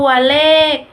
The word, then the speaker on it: เลข: ตาม มาตรา ตัว สะกด ค่ะ ตัว ที่ 2 สะกด ด้วย ข ไข นะ คะ ตัว เลข อ่าน ว่า ตัว เลข ประมุข อ่าน ว่า ประมุข